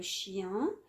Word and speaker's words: chien: Hada, c'est un chien, d'accord? Le chien, ça s'écrit avec N et on ne le prononce pas, on dit le chien.